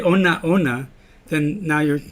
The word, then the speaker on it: onaona: Now here's ona ona is a great word because when you say ona ona, it's 4 syllables. But you can also pronounce it onauna when it's only 3 syllables. So depending on what you need for the song, you might sing that word onauna or onaona. And both of them are correct.